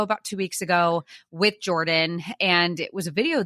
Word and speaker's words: Geordian: connected but all right I'm Jordan Jordan with the G it's like what I